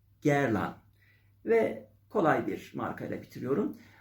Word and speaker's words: Guerlain: kloi zor bir marka guerlain diye yazılıyor kalburüstü parfümler üretiyor herkese göre değil popüler hiç değil Özellikle ORT Doğu pazarında iyi bir yeri var gerın guer diye yazılıyor gerlan diye okunuyor gerlan ve kolay bir markayla